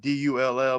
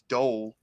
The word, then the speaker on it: Dole: Like my last name's Dole, like Dull, but people think it's Dole.